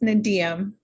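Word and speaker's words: NDEAM: It's pronounced Nadiam.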